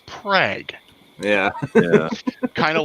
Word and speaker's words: Prague: spelt prague oh yeah but do not dare pronounce it prague it's prague yeah yeah kind of